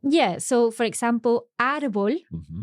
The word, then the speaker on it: árbol: So, for example, árbol, tree, has an accent. And the reason for that is because it ends in L, then quite often words that end in L will have their accent on the last syllable. They will be aguda, like natural.